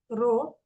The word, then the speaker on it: rho: Okay, rho anta ee symbol ide, idke pronounced as rho, and it is denoted by coulomb per meter cube.